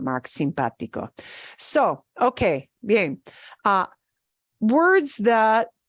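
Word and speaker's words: simpático: it breaks the rule the word for nice simpatico simpatico the way we pronounce this is simpatico but if you look at it it ends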